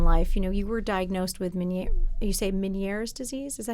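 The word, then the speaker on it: Ménière's: You were diagnosed with Meniere's disease.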